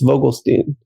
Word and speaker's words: Vogelstein: It depends what country you're in. For you, in Germany, it's Vogelstein. In the US, it's usually pronounced Vogelstein.